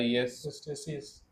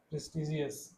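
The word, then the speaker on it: prestigious: बोलना है ठीक है इसको कैसे प्रोनाउंस करेंगे पी आर इस्टेसियस नहीं जी है प्रेस्टीजियस जी प्रेस्टीजियस प्रेस्टीजियस ये आपने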